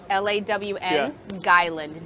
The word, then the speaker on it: Long Island: island iced tea you say it like lawn lawn guyland gey that's how we say it long island